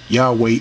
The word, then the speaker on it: Yahweh: It says, the vocalization Yahweh is lacking, meaning the original tetragrammaton, they didn't know what's the true pronunciation. But watch what it says. Scholars are now rather generally in agreement that it was the original pronunciation.